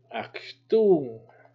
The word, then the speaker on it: Achtung: Achtung. Achtung. Achtung. Achtung. Achtung. Achtung. Achtung. So it's kind of like you're swallowing that last part.